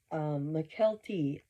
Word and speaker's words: Mykelti: Mykelti Brown. Boy, she's butchered that one the whole year she's been covering the Browns. People spell it out for her, like with phonics. Can't get Mykelti.